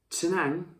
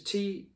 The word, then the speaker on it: Tettnang: They also get their hops from, and I think it's Tenang in Germany, and I think that like it's spelled, I think it's Tettnang.